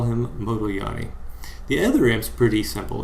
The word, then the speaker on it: Modigliani: risks so what are the assumptions of the moto yani and miller model by the way uh no